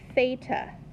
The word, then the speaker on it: theta: is the Greek letter theta it's their equivalent of the letter T okay beta it is not pronounced with an F some people mispronounce it